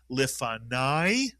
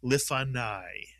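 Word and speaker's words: לְפָנַי: Nai is correct because the kamats with a yud at the end of a word is the same as a patah plus a yud.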